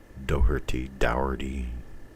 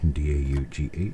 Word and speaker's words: Daughtrey: If you look at my name, it's D-A-U-G-H, which makes the daw, and then T-R-E-Y, tree. You can't really pronounce that any other way. D-A-U-G-H-T-R-E-Y, Daughtrey.